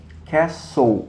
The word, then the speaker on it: castle: eu falei Castelo né Quer Sou se escreve Castle Mas você fala quer sou também não se pronuncia o ter Então é assim mesmo